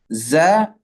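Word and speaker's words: ز: Okay, for the letters za and sin, the tongue stays in the middle. Okay, it doesn't rise.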